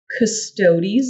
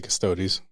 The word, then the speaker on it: Custodes: I say Custodes. I Yeah. think it's custodes. Yeah, it's custodes. It's not custodes. It's not like chodes. It's Yeah, custodes.